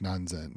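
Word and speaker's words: 何千: Well, I think that's it's non zen. I think it's non zen. I think it's normally sen, but for some reason you change it to zen. So non zen.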